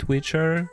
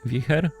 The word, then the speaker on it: Wicher: Some pronounce it Wicher, some say Wicher, because it's a Polish card, and Wicher is very strong wind.